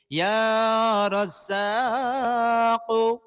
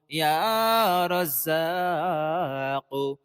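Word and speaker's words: يا رزاق: ইয়া রাজ্জাকু, ইয়া রাজ্জাকু, ইয়া রাজ্জাকু, ইয়া রাজ্জাকু, ইয়া রাজ্জাকু, ইয়া রাজ্জাকু। প্রিয় দর্শক, ইয়া রাজ্জাকু, অনেকে ইয়া রাজ্জাকু পড়েন, কিন্তু না, এটা বিশুদ্ধ নয়। ইয়া রাজ্জাকু বিশুদ্ধ নয়। আপনি পড়বেন ইয়া রাজ্জাকু।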